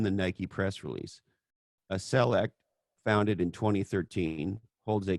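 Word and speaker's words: Celect: you like they acquired a company called select i think is how you pronounce it c-e-l-e-c-t i guess that's how you'd pronounce it now okay great that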